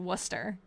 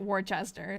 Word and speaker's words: Worcester: I know that that that's a um but in seriously in Massachusetts we pronounce it Worcester. And some other places I think pronounce it Warchester.